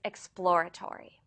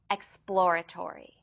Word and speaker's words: exploratory: Today's word is exploratory. This word is difficult to pronounce because it consists of a plosive p sound immediately followed by l and r sounds.